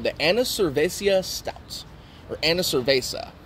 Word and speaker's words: Annivercervesa: It's called the Annivercervesa Stout. Or Annivercervesa. Not Annivercervesa. I'm not 100% sure how to pronounce it, but I guess it's like the Spanish word for beer, cerveza, and anniversary, Annivercervesa.